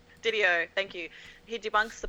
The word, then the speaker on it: DiDio: Didio. Didio.